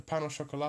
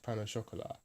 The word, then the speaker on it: pain au chocolat: But we drop the last T when we say it in English, pain au chocolat, and we also do the sh instead of the ch, right? So we kind of got a little bit of the French in there, but we're not going all the way.